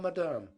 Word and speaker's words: Madame: I will tell Madame," putting the accent on the second syllable, where Peter had never heard it before.